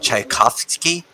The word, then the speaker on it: Tchaikovsky: Yeah, Rick, it's pronounced Tchaikovsky.